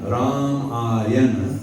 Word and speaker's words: Ramayana: When we speak of Ramayana, Ramayana, 3 syllables, it means the lake of the deeds of Lord Rama.